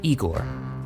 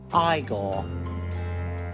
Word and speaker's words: Igor: His most iconic role was in Mel Brooks' Young Frankenstein as the good doctor's lab assistant, Igor. No, it's pronounced Igor.